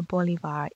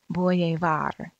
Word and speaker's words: Bolivar: a citizen Simone Boulevard bolivars name is pronounced Simone Bolivar the old fashioned English Way was to pronounce it boy a var as in the point above the precious jewel two boys were playing